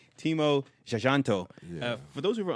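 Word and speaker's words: Timo Tjahjanto: Timo Jajanto.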